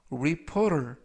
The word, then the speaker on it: reporter: 이때 끝부분에 있는 알파벳 T는 T가 아니라 부드럽게 R, 그래서 reporter 이라고 발음하시면 더 좋겠습니다.